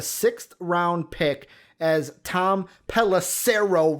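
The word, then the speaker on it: Pelissero: round pick as tom pelacero rhymes with arrow reported panthers paying bridgewater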